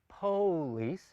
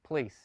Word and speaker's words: police: The English word police has an O between the P and the L. However, when we pronounce it, or when most of us pronounce it, we don't say police. We just go P to L-I-C-E, police.